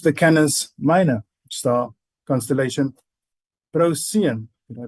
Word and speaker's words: Procyon: Hindu beings left the Canis Minor star constellation Procyon. Did I pronounce that correctly? Procyon. Procyon, thank you.